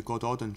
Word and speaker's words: Gododdin: But here you can see the God Odin tribe. The God Odin, Welsh pronunciation, Go Dodin, were a pre-Celtic speaking